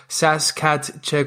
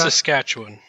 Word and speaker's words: Saskatchewan: focused in mechanical engineering from the University of Saskat Check. Can you help me pronounce that, please? How do you say that? Saskatchewan.